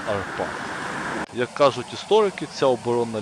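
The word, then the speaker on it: Árpád: ери на ім'я арпад так угорський варіант наголосу на другому складі арпад як кажуть історики ця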